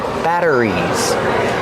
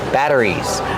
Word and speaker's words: batteries: We see the double T making a fast D sound. Batter. Batter. Batteries. Like water bottle. Make sure it's a fast D. Batter. Batteries. Not a rolled R. Not battery batteries. It's slower and clearer. Batter. Batteries. Plus, you have the R after it, which makes it especially difficult.